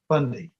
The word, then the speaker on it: Fundy: Fundy, did I say it right? Fundy, yeah.